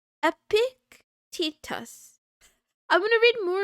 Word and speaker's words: Epictetus: Epictetus. Epictetus.